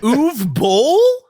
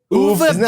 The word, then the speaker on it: Uwe Boll: Uwe Boll? Uwe Boll.